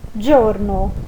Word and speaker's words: giorno: Onde está escrito giorno, nós lemos giorno. Então, gelato, giorno.